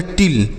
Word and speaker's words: till: उसके बाद है TILL, इसे हम पढ़ेंगे टिल, TILL टिल। तो अगर बच्चों दो कॉन्सोनेंट के बीच में आई रहता है तो इस आई का जो उच्चारण होगा वह छोटी ई की मात्रा के रूप में करेंगे।